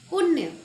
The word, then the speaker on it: पुण्य: यहाँ पर आधा न है, पूरा न नहीं है, पुण्य नहीं है, पुण्य जल्दी बोला जा रहा है।